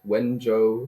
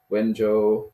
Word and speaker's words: Wenzhou: Sorry, I don't know how to pronounce the Chinese university. Maybe you can help out with that one. And it's called Wenzhou Medical University, or if you want the full Chinese name, they would say Wenzhou Ike, which is just Chinese for Wenzhou Medical